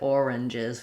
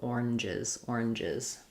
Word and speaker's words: oranges: Yeah, so I just said oranges with 3 syllables. You can also do oranges. So it has the z sound, the is sound at the end if you make it plural.